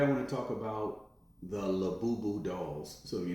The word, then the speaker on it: Labubu: Now again, you pronounce these dolls Labubu.